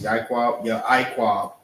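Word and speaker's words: יעקב: Ya'iqab is how it's pronounced, is Jacob.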